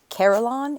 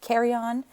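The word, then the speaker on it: carillon: the carryon a lot um it is not pronounced carolon it is kryon and it is a set of bells hung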